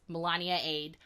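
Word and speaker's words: Melaniade: a whole debate on how to pronounce it and I was like no no mom it's this is a parody of Beyonce's lemonade lemonade and I had to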